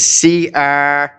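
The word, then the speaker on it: Crécy: And I mentioned this, I believe, in a message some time ago, but in the battle of, I don't know if you pronounce it, Crecy, it's Crecy, in August 1346, the French invaded England.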